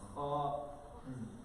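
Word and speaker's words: خ: kha, one difference is the ha is pronounced from the middle of the throat, kha is pronounced from the beginning of the throat. Another main difference and major difference is one is pronounced empty mouth and the kha with the dot one is full mouth.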